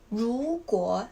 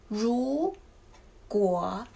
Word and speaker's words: 如果: 如果, the pronunciation is 如果.